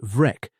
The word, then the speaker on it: Breac: It is generally rendered spotted or speckled, and in its aspirated form, Breac, pronounced Vrec, it offers itself very reasonably as the father of the modern freckle.